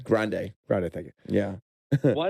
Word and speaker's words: Grande: Grande.